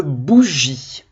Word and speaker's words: bougie: Une bougie, comme après le G, c'est la lettre I. Et oui, il y a un E muet à bougie. La lettre G fait le son J au lieu de dire une bougie. Voilà. Bougie. Parce qu'il y a le I après.